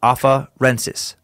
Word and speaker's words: afarensis: And then the other one, the other big word, afarensis.